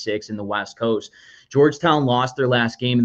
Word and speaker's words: Georgetown: I say Georgia Town. It's Georgetown.